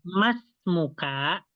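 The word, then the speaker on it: ما اسمكَ: Jadi di sini alifnya ya itu dilewati ya.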